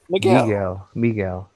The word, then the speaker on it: Miguel: Is it Michael or Miguel? Miguel.